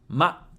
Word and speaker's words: ま: Then we have ‘ma’ ま is pronounced like the English word ‘ma’ meaning mother In other words, it sounds like ‘ma’ in ‘March’ How to remember ま?